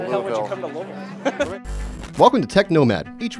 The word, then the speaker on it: Louisville: How would you come to Louisville?